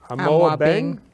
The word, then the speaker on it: Amoabeng: Now, when I pronounce this, it's the honorary Peter Kwaku, Kweku. Kwaku, Kweku. okay? Amoabeng, Amoabeng.